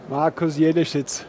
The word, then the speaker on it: Markus Jelleschitz: Please pronounce your name. Markus Jelleschitz.